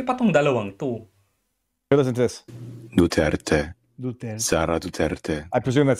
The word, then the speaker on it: Duterte: Dutert. Ita-trial mo 'yung tao ni hindi mo mabanggit yung correct na pronunciation ng kanyang apilyedo. Oh my god. Buti pa ong dalawang to. This Duterte.